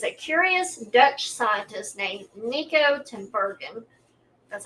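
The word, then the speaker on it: Niko Tinbergen: So back in the 1940s, a curious Dutch scientist named Nikico Timberen, that's how you pronounce it, he embarked on a remarkable journey that changed how we view the motivations behind our actions.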